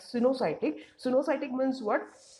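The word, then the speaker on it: coenocytic: written as a coin or sciatic it is pronounced like synocytic so no cytic means what multinucleated that means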